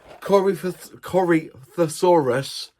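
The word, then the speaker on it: Corythosaurus: And it is the Cory Corosaurus from Airix.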